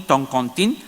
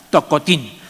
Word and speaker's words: tocotín: La forma de escribir tocotín, lo importante es la nasalidad. Siempre la tercera y última sílaba siempre va a ser nasal, tocotín. Pero a veces encontramos toncontín o tocontín, etcétera, etcétera. Pero la marca de nasalidad es un poco dar el ritmo, ¿no?